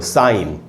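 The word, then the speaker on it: sign: पहले जी है तो वो सामान्य तौर पर साइलेंट होता है। कैसे? कुछ एक एग्जाम्पल से देखते हैं। जैसे ये वर्ड है दोस्तों साइन, साइन कहते हैं तुमने साइन कर दिया, मैंने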